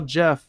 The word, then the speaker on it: Geoff: Is that how you say it, or is it Jeff? It's Jeff. All right.